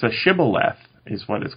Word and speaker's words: Shibboleth: very well then say Shibboleth and if they pronounced it Cybil f instead of Shibboleth then they were executed because it's like a regional pronunciation difference mmm I know mr.